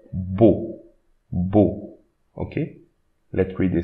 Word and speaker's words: beau: This EAU, we read it O. Beau.